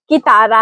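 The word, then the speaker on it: chitarra: यहां शी एच लिखा हुआ है। लेकिन याद रहे की की आवाज की होती है ना के के। छह। इसलिए सही तलफुज़ की तारा है।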